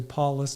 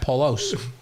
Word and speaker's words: Paulus: my name is actually Paulus, but I understand why you did Paulus. How do you spell it? How do you spell it? It's us, but it's Paul us like us, not Paulos.